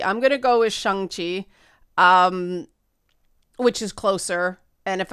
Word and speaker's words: Shang-Chi: Because the correct pronunciation is Shang-Chi and the Ten Rings, as best as my Canadian accent can manage. But people are saying Shang-Chi. I'm going to go with Shang-Chi, which is closer.